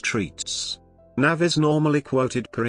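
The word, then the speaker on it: REITs: real estate investment trusts rights pronounced treats nav is normally quoted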